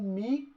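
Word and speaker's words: μ: o coeficiente de atrito isso daqui a gente lê como mim é uma letra grega que a gente lê e se pronuncia me como se fosse a letra m do nosso alfabeto vezes o fn lembrando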